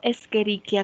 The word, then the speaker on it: Escherichia: ak juntas no se pronuncia como ch ejemplo escherichia coli no se pronuncia escherichia s escherichia la ce y la